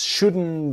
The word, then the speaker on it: shouldn't: So the T in just is silent and the T in shouldn't silent. Things just shouldn't be so complicated.